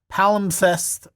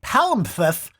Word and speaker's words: palimpsest: that pertain to doubling or redoing, such as palimpsest.